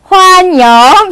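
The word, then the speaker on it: 欢迎: 환영. 비슷하죠? 그래서 환영이라는 발음을 쭉 길게 영을 약간 잉처럼 N처럼 발음해서 환영 해주시면 돼요.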